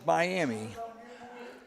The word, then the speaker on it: Miami: yep I can't remember it's spelled Miami but it said out there as miam don't ask me why